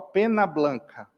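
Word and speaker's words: Peña Blanca: Nossa Senhora de Penha Blanca. Se escreve P-E-N com o tio em cima, que é do espanhol, Pena Blanca.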